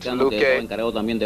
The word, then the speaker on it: Luque: Do you know a Honduran officer named Captain Luque? Have I pronounced that correctly? That's right. Luque was the operative who was involved in the same work.